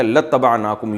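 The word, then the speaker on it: لاتبعناكم: असल में था इबाना तो हम इत्तबा करते तुम्हारी लाम ताकीद के लिए तो अलिफ साइलेंट हो गया। लतनाकुम यू पढ़ा जाता है इसको।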